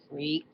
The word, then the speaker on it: Phreak: gets to know like this guy Freak. It's spelled F. It would be Phreak.